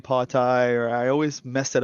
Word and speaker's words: Pawtai: correct me and say it's party like kind of like that it's it's like kind of like potty like you taking your dog